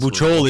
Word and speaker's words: Bucciol: Let's say the pronunciation. Your last Bucciol. Name. Bucciol.